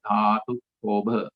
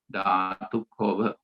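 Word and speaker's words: dhātukkhobha: just touch upon the Pali term as well, Dhatu Kobha. Once again, let me spell that for you again. DHA TUKKHOBHA. Dhatu Kobha.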